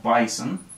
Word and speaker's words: BSON: to take this it's json in binary called bison okay no i did not spell that right b som take out the i bson okay which is binary json and it has libraries